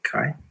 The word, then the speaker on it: Kai: uh practices it's incredibly interesting um did I pronounce that right Kai yeah that's right hello everyone my name is